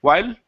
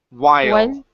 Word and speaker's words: while: All right, let's work on the L here instead of why. While while. Yeah. So, it's that it's the so that it's uh what what I would call the L vowel.